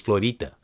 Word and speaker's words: Florida: It's not Florida, it's Florida.